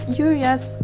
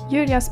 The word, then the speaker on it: Julia: Julia's paint spreaded really easy on the paper, so I had a bit less of control. Oh yeah, and in Swedish we pronounce Julia, not Julia, Julia, Julia, or whatever.